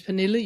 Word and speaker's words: Pernille: With my name is Pernille.